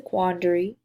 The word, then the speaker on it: quandary: and arm blend together and you'll hear people's pronounce it like a quandary but it's a quandary and so when you think quandary you can